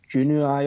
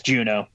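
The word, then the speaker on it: Juneau: It's like Junii or something along those lines. I'll accept. I don't know how to. I think You mispronounced the shit out of it, but is it just Juno? yes, Juno.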